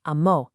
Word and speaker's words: amó: For él, ella, or usted, he, she, or you formal loved, it's amó. Again, listen for that strong accent on the final o.